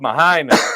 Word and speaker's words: Mahina: Mahina, that's exactly how you pronounce that.